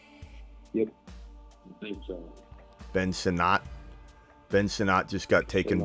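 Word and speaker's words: Sinnott: we can get caught up um Ben uh sinat is that how you say his name yep so Ben sonat Ben sonat just got taken by the uh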